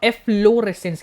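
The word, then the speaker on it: efflorescence: नाओ एफ लो रेसेंस। क्या है? एफ लो रेसेंस। जहां पे किसी भी अल्फाबेट पर जब हम ज्यादा स्ट्रेस करते हैं तो वो डबल बन जाता है।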